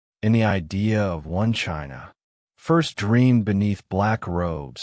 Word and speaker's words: Qin: It is in the textbooks, in the language, in the very name of China itself. The word chin pronounced Chin is believed by many to be the origin of the English word China.